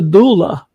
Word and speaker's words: doula: what the heck is a doula I did did I pronounce it right that is correct Terry is somebody who